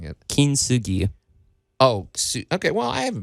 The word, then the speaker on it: Kintsugi: You really accent the Kent part of it. Kent. You kind of blend it together and everything, but su is a separate syllable in the Japanese language.